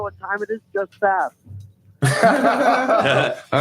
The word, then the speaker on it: Sask: It's spelled SASK. It's called Sask.